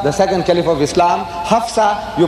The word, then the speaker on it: Hafsah: talking about omar the second caliph of islam hafsah you pronounce it correctly so in that case if